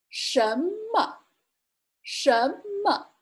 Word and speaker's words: 什么: 什么什么 Note that there's not a tone mark on this one because it's a neutral tone, so it should be pronounced slightly.